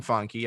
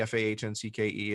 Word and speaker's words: Fahncke: I am the only, well, first of all, if you have the name Fahncke, Fahncke, and you're in the United States, you're in some branch of my family, which there aren't a lot of them.